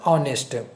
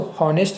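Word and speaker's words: honest: ऑनेस्ट। इसको हॉनेस्ट नहीं बोलते, ऑनेस्ट। ऑनेस्ट बोलते हैं।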